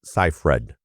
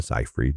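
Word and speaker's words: Seyfried: And by the way, it's Amanda Cyherred. Just like that. I know like people like to say Amanda Cyred.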